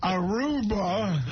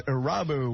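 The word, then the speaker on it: Irabu: Hideki Aruba. I think the proper pronunciation, Harry, is Arabu.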